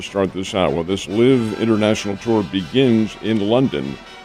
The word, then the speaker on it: LIV: The tour that you're referring to is the LIV International Tour. LIV is spelled L-I-V, and it's an international financial concern backed by the Saudi and Arabian government.